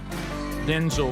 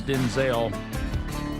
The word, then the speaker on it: Denzel: So, you know, reading it and doing the emphasis on the name Denzel versus Denzel, um it was it's hard to do that, showing the different emphasis.